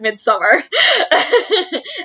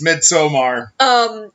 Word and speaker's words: Midsommar: If people have seen Midsommar, and we refuse to pronounce it Midsummer, it's spelled Midsommar. It's Midsommar. That's the cosplay I'm working on until, like, March.